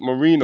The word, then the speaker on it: Marino: Marino, I'm pronouncing the last name right? Yes, Marino, yes.